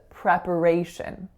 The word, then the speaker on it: preparation: so for this word it's really really important that that second syllable is being reduced to awah and schah is an incredibly short reduced vowel so it's not preparation it's prep so the P has to sound like uh but it has to be very short so it's preparation preparation so our next word